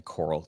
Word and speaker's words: Koral: So, you can find me Coral. It's K O R A L. Uh, so it's pronounced like uh under the sea, but spelled totally different.